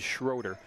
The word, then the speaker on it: Schroeder: I think it's Amanda Schroeder's father that's sitting next to us, and I wanted to make sure we were pronouncing her name correctly. It is Schroeder.